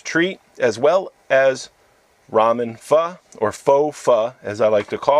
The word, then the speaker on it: pho: I like to say it is pronounced fuh but here in the states you know most people call it faux and I'm okay with